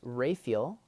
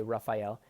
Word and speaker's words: Raphael: And so, my dad's name, first of all, is Raphael, as he pronounces it. Some people say Raphael, but you know there's 3 archangels in Scripture.